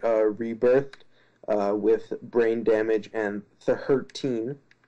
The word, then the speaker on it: tHURTeen: with Brain Damage and tHURTeen, as I believe it's supposed to be pronounced. tHURTeen, the way it's... Look in the description box, that's how it's spelled. That's why I'm doing the funny pronunciation.